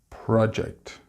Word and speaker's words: project: Notice that when used as a noun, the stress is on the first syllable, and when used as a verb, it is on the second syllable.